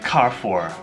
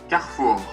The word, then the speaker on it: Carrefour: So in English we say Carrefour, but the actual pronunciation is French, so it's probably something I can't pronounce. Carrefour.